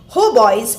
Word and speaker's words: hautboy: Hautboys and torches. The pronunciation is hautboy.